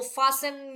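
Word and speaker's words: fasten: फास्टन your seat बेल्ट।स्टन बोलने की जरूरत नहीं है। टी को हम साइलेंटली बोल सकते हैं।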